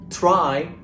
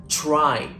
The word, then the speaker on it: try: will sound like a combination of CH sound with the letter r in this way the word TR r y will not sound like try but try here are a few